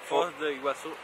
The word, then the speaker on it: Foz do Iguaçu: Foz de Iguaçu.